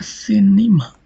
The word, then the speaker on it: cinema: As you can also look in the word uh cinema. As you can see here, from the second syllable, which is the penultimate syllable, which is a short vowel, so it is light syllable. As a result, the stress moves to one syllable before the penultimate syllable and falls the stress on the antepenultimate syllable. That is C.